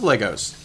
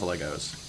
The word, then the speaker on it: Lego: I love Legos. I'm an adult, and I love Legos. Or Lego, I guess Lego is the correct pronunciation. I always feel weird about that, though. Because, I grew up saying Legos.